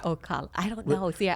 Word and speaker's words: Ocala: Asala. Asala, yeah. Asala or Ocala? Ocala.